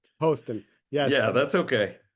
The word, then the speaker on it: Poston: and and and please correct me if I mispronounced it po Poston Poston yes yeah that's okay how are you doing